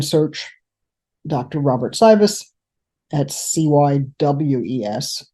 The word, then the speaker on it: Cywes: Robert Cywes at Cywes, even though he pronounces it VES.